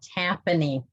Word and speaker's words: Tapani: there but um um tapini did i say that right tapanini t-a-p-a-n-i incorporated we usually pronounce it tappani see that's that's that's